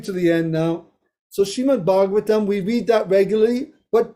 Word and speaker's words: Srimad Bhagavatam: So Srimad Bhagavatam, we read that regularly, but do we know how to pronounce it? Srimad Bhagavatam, Srimad Bhagavatam.